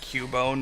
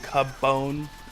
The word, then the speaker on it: Cubone: So since there's only one B that makes it Cubone, not cabbone.